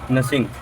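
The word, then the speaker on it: gnashing: की झुंड की ओर नशिंग जी साइलेंट है नशिंग हिज टीथ दांत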